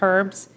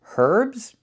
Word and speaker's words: herbs: And I also have chopped herbs. Herbs. We do not pronounce the word herbs. Not in America and not in Canada. It's pronounced herbs. The H is silent.